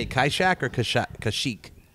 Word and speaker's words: Kashyyyk: Kaishak or Kashyyyk? Kashyyyk.